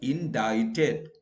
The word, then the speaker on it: indicted: it the mp was indicted so here c is silent indicted where d is